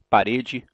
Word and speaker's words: parede: Então eu digo natural. Eu digo parede. Eu digo lâmpada. Nenhum falante da língua vai dizer natural, ou parede, ou lâmpada.